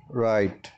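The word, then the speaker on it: write: in English number one राइट राइट राइट का मतलब है लिखना लिखना है इन थिस वर्ल्ड में डब्लू साइलेंट है इसलिए इसको हम प्रयास करेंगे राइट ओं फोन नंबर सेकंड नो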